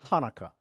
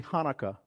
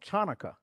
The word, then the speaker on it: Hanukkah: it should be called chanaka but you know you don't call it chanaka you call it what Tanaka but it's supposed to be like a little Gravelly sound before you said supposed